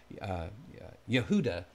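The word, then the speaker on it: יהודה: a root of Judah it's actually pronounced Yehuda in the original Hebrew again and then there's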